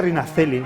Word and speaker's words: Rina Celli: Parece como hay que pronunciarlo Rina Celli, ¿no? Sí, ahora se dice Rina Celli.